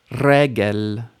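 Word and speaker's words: רגל: Regel. Did you get the initial stress?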